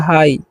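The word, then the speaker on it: high: पर जो है ना एच का उच्चारण ह करना है और आई का उच्चारण क्या करना है आई तो हो गया हाई ठीक है इसको क्या पढ़ते हैं हम लोग हाई यहां पर जी एच का होता ही नहीं है ठीक है तो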